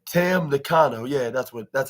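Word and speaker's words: Tam Nakano: by Willow Nightingale and T and Tano T Tam Nano yeah that's what that's how it's pronounced oh yeah I thought that was the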